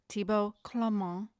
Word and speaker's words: Thibaud Clément: And Karina was schooling me on how to say his name, Thibaud Clement.